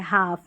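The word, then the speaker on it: half: चलिए यहां पर देखिए हाफ यहां पर भी एल साइलेंट है। हाफ।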